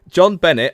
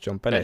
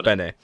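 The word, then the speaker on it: JonBenét: John Bennett, a beauty pageant winner.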